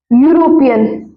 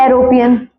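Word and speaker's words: European: देखो यूरोपियन। है ना? इसको क्या पढ़ेंगे? यूरोपियन। यूरोपियन। है ना? क्या पढ़ेंगे इसको? यूरोपियन। ये तो नहीं पढ़ेंगे। एरोपियन।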